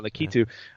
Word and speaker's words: Lakitu: Yeah, Lakitu. Yeah. He owns all of the racetracks in Super Mario Kart. Does he really? Yep. In the original instruction booklet for the game, Lakitu greets the players, letting them know that he